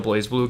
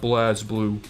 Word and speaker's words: BlazBlue: whenever you started a BlazBlue game they had Ragna show up into a que it's pronounced blazblue not bless blue or whatever you know